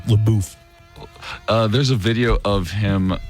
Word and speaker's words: LaBeouf: LaBeouf.